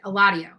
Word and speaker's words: Eladio: Eladio. I think that's the pronunciation.